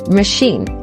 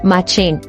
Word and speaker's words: machine: This word is pronounced as machine and not machining.